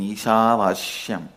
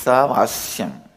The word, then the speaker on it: Isavasyam: Listen, my pronunciation Ishavashyam is also Padabeta. How I heard from my masters, I am repeating, but actually it is Isavasyam.